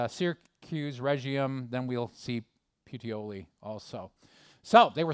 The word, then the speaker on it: Puteoli: Okay, so I knew that he would have the pronunciation down for me. Puteoli. Puteoli.